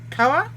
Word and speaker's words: Kauai: It's not actually showing on that list for some reason, which means I am mispronouncing something significantly, which is entirely plausible. How is that one? So I'm on Kauai?